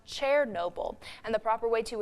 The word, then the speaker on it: Chernobyl: The site of the worst nuclear accident wasn't in Chernobyl. It's actually pronounced Chernobyl.